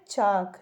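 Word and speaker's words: chalk: स एच ए एल के क्या लिखा है चाक देखिए इसमें भी एल साइलेंट है ठीक है इसमें भी एल साइलेंट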